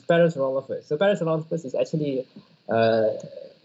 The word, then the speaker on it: Parasaurolophus: I challenge you to pronounce Parasaurolophus.